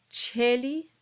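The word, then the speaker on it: caeli: The two vowels together produce a single sound. They produce the sound E. And so these two words become celi and eterne. And we can add in the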